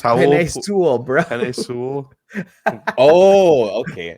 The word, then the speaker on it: Penei Sewell: I mean, everybody was an NFL GM and scout apparently because it went from we need to draft Sine Poole and we need to go ahead and draft who?